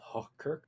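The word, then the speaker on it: Hochkirch: near a town called hirk h o c h k iir c hirk which is actually how you pronounce it in German I'm not making that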